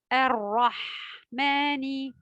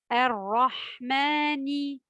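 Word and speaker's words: الرَّحْمَٰنِ: Ar-Rahmani. Ici, en Ar-Rahmani, il faut faire bien attention au ra. Elle se prononce de manière grave et elle est doublée. Donc, Ar-Rahmani. Ar-Rahmani.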